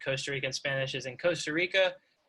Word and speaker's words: Costa Rica: Rican Spanish is in Costa Rica, they don't say Costa Rica. Like you're supposed to roll your R when it's the first letter in the word.